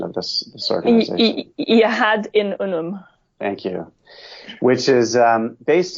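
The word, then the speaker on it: Yahad-In Unum: Rebecca, help me with the pronunciation of this organization. Yahad in Unum.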